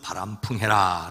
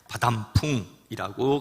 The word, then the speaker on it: 바람 풍: 주의 이름으로 축복합니다 우리 속담에 나는 바담풍해도 너는 바람풍해라 말이 있지요 정작 자기는 잘못 행동을 하면서 남에게만 잘하라고 윽박지르는 모순적인 상황을 가리킵니다 옛날 어느 서당에서 훈장님이 아이들을 가르칠 때 바람 풍이라고 해야 할 것을 잘이 발음 탓에 바담풍이라고 가르쳐 놓고는 아이들이 그걸 그대로 풍이라고 발음 하니까